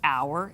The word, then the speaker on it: hour: so for example our what hour is it we don't go power so again that probably has nothing a lot to do with how your mouth is shaped so again it becomes silent students when they go